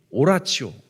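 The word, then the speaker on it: oratio: 어 읽기 소리내어 읽기 오라치오 여러분 저건 영어가 아니라 라틴어 그렇기 때문에를 치로 발음하면 돼요 소리 내어서 읽는 거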